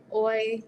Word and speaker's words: hoy: And the funny thing is that the H is silent. We don't ever use it. So hola, hoy, you just are going to use the vowels and then completely forget about the H.